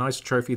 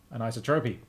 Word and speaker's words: isotropy: Metian and isotrophy, there's a pull request. No H, what? Thank you. An isotropy.